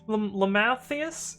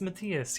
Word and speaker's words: Matthias: I was like, what a Lamathias? Oh, I see. It's Matthias.